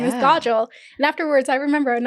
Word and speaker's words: Kajal: your name your name is Godel it's not he's going to talk